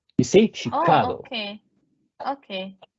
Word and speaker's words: Chicago: can you hear me yes Nate uh it's pronounced Chicago you see Chicago okay okay it's actually a Native American like